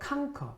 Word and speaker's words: conquer: 그가 conquer, 발음이 특이합니다. conquer, conquer, conquer 이렇게 있지 않고요. conquer라고 있습니다.